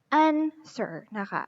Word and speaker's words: answer: sir and sir okay so w is silent letters so we're going to just read this one as an sir okay so i've wrote